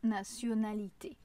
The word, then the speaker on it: nationalité: Alors que en français, c'est bien un son comme un s. Naonalité. D'ailleurs, c'est comme le mot la nation. Nation nationalité.